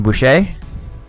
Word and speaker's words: Boucher: And in net for Philadelphia will be Brian Boucher. That's how you pronounce it.